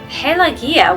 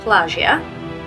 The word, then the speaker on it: Pelagia: Most of the action centers on the small-town doctor Ioannis, his daughter Pelagia, which I just learned was pronounced that way thanks to the movie. I was pronouncing it Pelagia, which is still kind of in my head, her betrothed